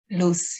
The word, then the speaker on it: Loes: The correct pronunciation of your first name is Loes? Loes, yeah.